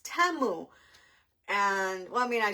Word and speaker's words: Temu: I was saying that I used to say teu because that's what everybody calls it and then I was watching a commercial the other day and my daughter says look Mom it's not timu it's TAMU and well I mean